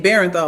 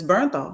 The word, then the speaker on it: Bernthal: old when I realized I've been saying his name wrong and it's Bernthal because I've been saying Barrenthal like B E R E N T H A L and it's Bernthal.